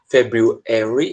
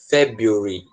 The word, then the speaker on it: February: Ela pode ser February ou ela pode ser February, tá? Muda só a sílaba tônica.